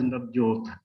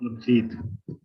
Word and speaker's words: Navjeet: When Professor Ravindra Tiwari was speaking, he pronounced my name as Navjot, not Navjeet.